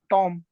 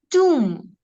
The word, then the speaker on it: tomb: How do you pronounce this one? Tom. Tomb. It is tomb.